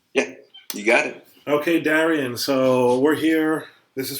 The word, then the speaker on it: Darian: so uh is the correct is the correct pronunciation darian is that correct yeah you got it okay darian so we're here this is for the channel